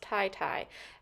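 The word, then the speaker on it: titi: Okay, so we did look it up, and it is pronounced tie-tie.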